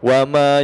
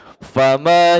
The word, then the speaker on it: فما: Fa, ingat ya di sini pakai fa bukan wa. Ya biasanya kalau kita tidak teliti untuk membacanya, biasanya seringkali itu dibaca wa. Oh, iya. Wa ma yukadzibu, padahal di sini pakai fa, betul sekali.